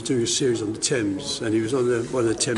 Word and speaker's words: Thames: Yes, it should be the Thames makes sense in French, but in English it should be Thames. Yeah. That's right. Well, that's a weird way of pronouncing things.